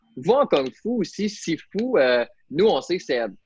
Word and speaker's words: Sifu: Sifu, c'est 2 caractères. Si, ou bien che, ou su, dépendamment de la région, là, la prononciation.